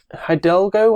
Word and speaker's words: Hidalgo: He did Hidalgo, I think it's pronounced.